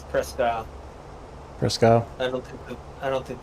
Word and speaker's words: Presque Isle: We think it should be pronounced Presque Isle.